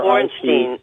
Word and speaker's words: Bornstein: And it's Bornstein, and for our audience, that's spelled B-O-R-N, like born, Steen, S-T-E-I-N.